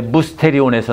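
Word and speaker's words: μυστήριον: 근데 원래 그리스에서는 그 무라고 발음하는 것을 영어에서는 Y라고 써서 반모음 반자 반모음으로 쓰죠. 근데 원어에서는 원래는 그게 유자 발음이 나는 거예요. 그래서 미스테리가 아니라 원래는 무스테리예요. 무스테리온이에요.이 말이 무슨 말이냐면요.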